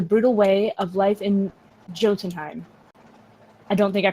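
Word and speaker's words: Jotunheim: winter learning the brutal way of life in Jotun time I don't think I pronounced that right it I did sweet but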